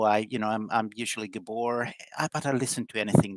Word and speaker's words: Gabor: very lucky and and introduction my name is gabor actually it's gabor like a pronunciation but i'm used to like if you're